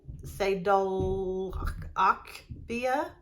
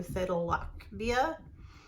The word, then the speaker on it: Sadalachbia: It is Sadalachbia. This ACH is pronounced like German, not like the American ATCH, so Sadalachbia.